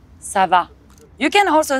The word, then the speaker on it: ça va: you in french the hard part is the on make sure you open your mouth come on sava you can also say